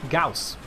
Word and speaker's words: Gauss: I read the word Gorse, I see Gorse, but it's not Gorse, it's Gauss, because some Becca's family decided that they were going to spell it G-A-U-S-S for G-O-W-S.